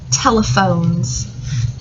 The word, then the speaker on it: telephones: Our mystery word is the word telephones. T-E-O. Tel. E. Where the PH says F.